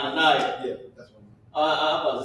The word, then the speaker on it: Hananiah: It's pronounced Hananiah.